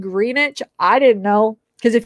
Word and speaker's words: Greenwich: it's on the greenish green witch i swear it's spelled green witch if you look it up green witch but i guess people said it's supposed to be said greenwich i didn't know because